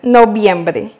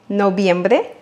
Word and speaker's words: noviembre: Et on arrive maintenant au mois de noviembre. Noviembre, novembre. Il est très important de savoir qu'en espagnol, le V se prononce comme le B en français.